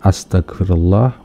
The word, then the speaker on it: Astaghfirullah: dosen Tarbiyah ya cuy benar enggak bacanya seperti ini salah Awas jangan diikutin yang benar adalah Astaghfirullah wa atubu ilaih tapi dia bilang